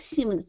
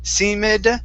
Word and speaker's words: seemed: the word seemed here so instead of seamed seamid it's seamed seemed go right to that d sound there you go much